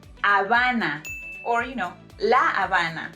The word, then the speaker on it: Habana: of Cuba, it's pronounced Habana, or you know, La Habana, not Havana, alright? Habana. It's Habana because recuerda que la H es muda. Remember that letter H is silent.